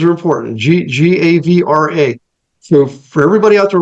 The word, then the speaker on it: Gavre: Is it Gavre? Did I pronounce that correctly? Gavre, but that's fine. Gavre, okay. Thanks. Names are important. Gavra.